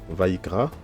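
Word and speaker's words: ויקרא: Donc ici on a le Sheva, d'accord. On a déjà vu le Sheva dans les précédents cours. On a dit que lorsque c'est une syllabe qui se ferme, le Sheva est silencieux. Quand le Sheva est silencieux, ça s'appelle un Sheva Nach, d'accord. Ça se lit Vaïk, Vaïkra.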